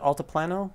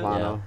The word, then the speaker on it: Altiplano: And then the other game, which will likely be on a lot of our lists, is it Altiplano? Is that how you pronounce it? Altiplano.